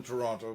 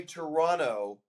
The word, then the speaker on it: Toronto: But you don't say Toronto like most people I know from Toronto. They say Toronto, they don't pronounce the T.